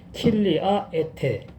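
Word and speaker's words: χίλια ἔτη: 그래서 천년 동안을 갖다가 헬라어 계시록 번역 성경에는 킬리아 에테 이렇게 이제 발음을 하고 그런 내용으로 되어 있는데, 결론적으로는 천년 왕국은 없다.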